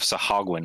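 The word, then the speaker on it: Sahuagin: see the head of uh a party of sahagun cross kind of looks both ways i'm interested impressed you haven't messed up the pronunciation of sahagwin once i know well ever since we looked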